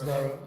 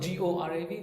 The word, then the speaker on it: Gaurav: It's Gaurav. It's you may call it Gorav, which is easier way to pronounce.